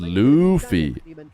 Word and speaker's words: Luffy: It's pronounced Luffy.